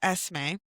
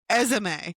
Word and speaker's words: Esme: It's Esme." And he's like, "It's like the letter S in the month of May." And one of the Bellas goes, "Esme."